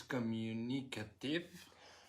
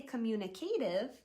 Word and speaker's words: communicative: We don't say communicative. We say it like this. Communicative.